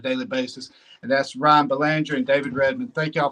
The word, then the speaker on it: Belanger: Yeah, so Ryan and I'm many people don't know, but it's Belanger is how you say the last name.